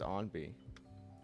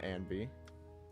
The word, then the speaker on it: Anby: Is it pronounced Onby? I think it's Onby. I think it's Onby, not Anby. I think.